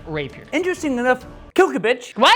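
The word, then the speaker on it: Klbkch: You humans say we're But the narrator of the audio book pronounce it Kilkovich.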